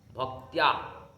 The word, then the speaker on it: ভক্ত্যা: সংস্কৃতে যদি উচ্চারণ হয় ভক্ত্যা, ভক্ত নয়।